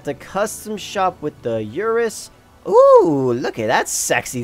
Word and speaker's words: Urus: we have the schmergini Urus I know I'm actually pronouncing that wrong I didn't know you know that's not actually how you say yours it's like Urus or something like that I don't care this